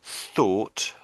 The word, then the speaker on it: thought: So, the top one is thought.